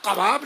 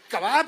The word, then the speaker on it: कबाब: अरे भाई कबाब नहीं है, ये कबाब है, ये कबाब तो गले से नहीं उतरेगा।